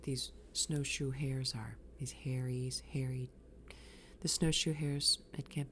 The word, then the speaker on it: hares: They're hares, and they pronounce it hairy. It's a long E, and they're dicks.